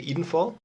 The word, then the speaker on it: Edenfall: I'd rather say Edenfall, I think.